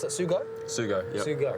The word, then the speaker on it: Sugo: two some aggressive kerbs here soon and you pronounce that sue got sue go right Japan so the last Japan